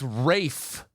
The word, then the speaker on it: Ralph: It's It's Rafe. It's not Ray, I told you it was Rafe.